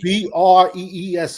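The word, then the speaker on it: Bresee: It's spelled with the last name spelled weak. Breese for the Saints, defensive tackle.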